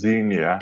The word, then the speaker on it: Xenia: So you've highlighted, sorry, is it Xena or is it Xena? is uh is pronounced Xenia.